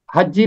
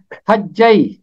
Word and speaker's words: حجی: ہے، کئی لوگ اسے حجی پڑھتے ہیں، کئی لوگ اسے ہجی پڑھتے ہیں۔ حقیقت میں اس کا تلفظ عبرانی کے مطابق ہے حجی، اور یہ اسم ہے،